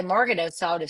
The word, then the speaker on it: Magarinos: I was going to say Margarinos, so I would have said it wrong.